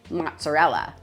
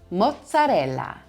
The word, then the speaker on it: mozzarella: Next up, my favorite cheese, mozzarella, mozzarella. Anytime you have two consonants together in Italian, you're putting the emphasis on that section of the word. So mozzarella, mozzarella.